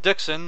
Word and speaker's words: Dxun: well let's see I'll conclude this gameplay of Dixon as I say it's pronounced rather than to the Sith Lords 2.0